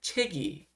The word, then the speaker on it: 책이: 체이라고 읽으면 안 됩니다. 아침이 어디로 갑니까? 위로 갔기 때문에 체기.